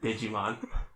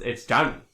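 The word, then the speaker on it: Djimon: It's spelled Digimon Hansu. And I had to look it up to make sure it wasn't Digimon. And? No, it's Jaemin.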